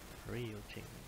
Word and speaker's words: Ryujinx: They pronounce it Ry. U, Y-O-U, and Ching. Ryu Ching.